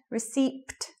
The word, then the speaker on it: receipt: Receipt, another silent letter.